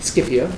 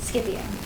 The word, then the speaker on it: Scipio: read Cicero's Dream of Scipio. Is that how you pronounce it? Mm-hmm. Scipio. Scipio. Hard C's. The Romans pronounce their C's hard, so it's Marcia.